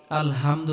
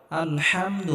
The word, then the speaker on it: আলহামদু: আলহামদুলিল্লাহি রাব্বিল আলামিন এখানে আমরা বড় হা উচ্চারণ করব গলার মধ্যে হালকা চাপ দিয়ে উচ্চারণ করতে হবে আমরা অনেকেই আলহামদু পড়ি আলহামদু এটা হবে না আলহামদু হবে আলহামদু লিল্লাহি রাব্বিল